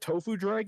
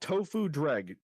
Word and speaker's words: Tofu Dreg: Do you know what Tofu drag is? Do I know what what is? It's called Tofu Dreg. The the second word is spelled D R E G.